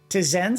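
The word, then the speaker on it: Tzen: Tizen spelled T-Z-E-B-N. The B is silent.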